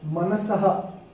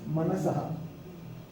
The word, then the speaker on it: मनसः: So similarly, manasaha. It's not manasa. It's manasaha.